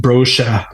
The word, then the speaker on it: Brosha: My last name is pronounced Brosha, but he used to